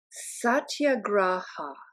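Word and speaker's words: satyagraha: He called it satya graa. Sat ya graa. And it's spelled exactly like it sounds.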